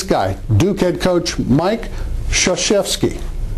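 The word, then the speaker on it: Krzyzewski: Duke head coach Mike Shashi there are a lot of letters in there you don't use it's about remembering understanding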